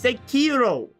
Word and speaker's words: Sekiro: Why do you pronounce searo like it's Sakiro?